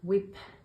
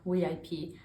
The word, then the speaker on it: WIP: Um, and yeah, I wanted to talk about this whip situation. Whip or WIP? How do you say it? I have heard both, and I usually say both.